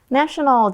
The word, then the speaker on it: nation: National 就是国家的，那这个国定假日其实就是 national holidays。比如说，Our office is closed during national holidays。我们的办公室呢，在国定假日是没有营业的。那另外呢，这个字它刚刚是形容词嘛，那它的名词很简单，我们把 al 拿掉就会变成 nation，它就变国家的意思。注意发音，形容词的时候是 national，你的 a 嘴巴要大，然后国家当名词的时候是 nation，嘴巴要小哦。好，那我们看一个例句。Mid-Autumn Festival is a national holiday.